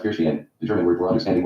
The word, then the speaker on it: Verstehen: Weber taught his students that they should employ Verstehen, pronounced Verstehen, the German word for understanding or insight, in their intellectual work.